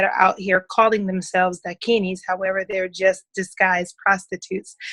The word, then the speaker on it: Dakini: Now, it says you are a certified Dakini. Did I pronounce that correctly? Yes, you did.